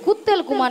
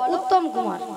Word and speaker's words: উত্তম কুমার: শ্রী ঠিক করে উচ্চারণ কর তুমি ঠিক করে উচ্চারণ করো বল শ্রী শ্রী শ্রী শ্রী বল শ্রী শ্রী শ্রী শ্রী কুত্তেল কুমার নয় বল উত্তম কুমার উত্তম কুমার হ্যা হ্যা নিয়া পড়ি যে আমি